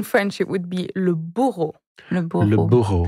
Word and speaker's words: bourreau: So in French it would be le bourreau. Le bourreau. Le bourreau. How do you spell that? B-O-U-R-R-E-A-U. So the sound O is often A-U or E-A-U.